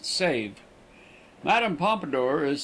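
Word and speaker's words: Sèvres: authorized artists the name of the town is pronounced save Madame pomidor is said to have been the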